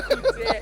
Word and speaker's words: Couture: Oh, I might have said curtain. Nice. No, it's Couture. Everybody's got my name wrong.